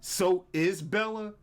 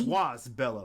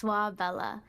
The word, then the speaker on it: Soisbella: First of all, you said, I've always pronounced your name Soisbella, but it's Swas Bella, right? Yeah, it's Swas Bella. So Swa means bee in French, so it's like a